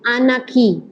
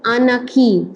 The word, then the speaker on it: anarchy: called Faith so it's always the accent on the first syllable of Anarchy Anarchy not Anarchy okay uh it is it the r is not pronounced okay it is anaki Anarchy yeah in the